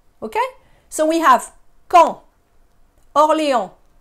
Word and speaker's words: Orléans: And then we have Orléans. Orléans. No, it's not Orleans. It's not New Orleans or Orleans. The S is not pronounced.